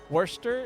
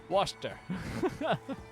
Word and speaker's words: Worcester: I think it actually just gets too compressed, like, to 2 syllables. Worcester.